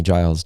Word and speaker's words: Giles: reach out to amy she's amazing her name is spelled a-i-m-e-e like amy mann but amy giles g-i-l-e-s uh cannot like recommend her enough so